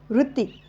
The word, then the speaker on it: वृत्ती: अ चाण उच्चार तर इथे सायलेंट अ होत आणि जो पुढच्या अक्षरातील जे एक स्वर आहे ती मध्ये जो स्वर आहे छोट्या ची मात्रा त छोट्या या छोट्या ची मात्रा या उच्चारणामध्ये आपल्याला पाहायला मिळते तर या ठिकाणी तुम्ही